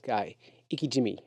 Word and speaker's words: ikejime: I said it wrong the first time. It's called. It says Ikejime. It's Ikejime. Ikejime. I read it as Ikejime.